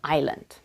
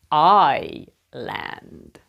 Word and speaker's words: island: see a problem yes the first letter you pronounced like I not e and there is a silent s in it to help